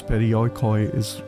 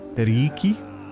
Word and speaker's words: perioikoi: And he basically told me that the way I pronounce perioikoi is wrong, apparently. Anything with the alphabet OI is pronounced as an E, so it should actually be periiki.